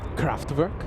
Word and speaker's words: Kraftwerk: No, you can't pronounce anything right. Come on. It's Kraftwerk.